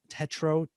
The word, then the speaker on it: Tetreault: Am I saying it right? Can you give it to me if I'm not saying it right? You're saying it great. Perfect. You're Canadian. It's Perfect. French Canadian. You got it. When you get that EAUL thing, you get that in the name here.